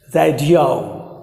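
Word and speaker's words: radio: जो कि गलत होता है, आप इसे औ प्रोनाउंस कीजिए रेडियो रेडियो, या फिर वीडियो वीडियो, या फिर ऑडियो, ठीक है।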